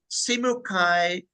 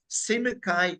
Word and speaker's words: Simukai: But the word simokai he said to me I should say simokai Zimbabwe simokai simukai e Africa simukai which